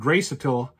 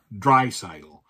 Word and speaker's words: Draisaitl: And Draisaitl has the puck. Or Draisaitl. I'm sorry, I mispronounced. I know somebody pointed out to me that I mispronounced his name once, so it's Draisaitl.